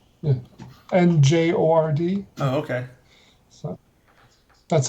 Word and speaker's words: Njord: But so the grandfather, who's we keep just calling the grandfather, I think his name was Mjordi. Does that sound right? Njord? That was Nord. Yeah. Njord.